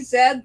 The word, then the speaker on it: zed: you're very very young canadians say zed the americans say something else the letter z michelle